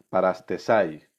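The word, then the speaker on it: παραστῆσαι: La palabra griega es parastesai. Parastesai significa ponerse al lado de Dios o de acuerdo con Él. Fíjate qué importante. Parastesai, tal y como suena, se escribe.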